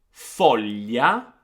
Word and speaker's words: foglia: Let me pronounce for you 4 words that do have this sound, and then we're going to listen to Gaia that pronounced these words for us.